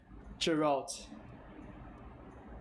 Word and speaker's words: Geralt: It's, how do you pronounce this guy's name? Gerald? Yeah. It's from Victor. So many possibilities. Jeff? Geralt.